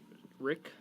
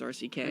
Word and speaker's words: RCK: I think it's Oh. pronounced Rick. It's actually not. It's pronounced RCK.